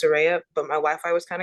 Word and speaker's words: Soraya: It's Soraya. My Wi-Fi was kind of going. It's pronounced Soraya, but my Wi-Fi was kind of going in